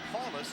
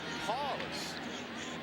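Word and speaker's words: Powlus: It is not Paulus even though that's the way it's spelled. It is pronounced Paulus. Paul. Just remember the big paw. Ron Paulace.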